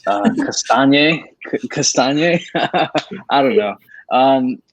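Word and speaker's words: Castagne: c4 uh well so i looked up the pronunciation for his name before adding the banner and sounded like cassanya saw like i think it's pretty cool to have your last name right with lasagna but apart from that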